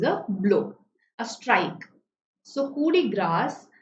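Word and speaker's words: coup de grâce: So coup de grace. So here the French pronounce grace as grass.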